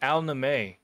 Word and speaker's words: Al-Naemeh: That's how you say it, Al-naemeh. I had no idea how to say Sand Devil's name. I've been saying Sand Devil, but I guess it's al-naemeh.